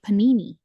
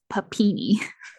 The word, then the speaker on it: Papini: goes on to say her name is Sherry Panini then you hear her correct him and he says papini sure Panini that's awesome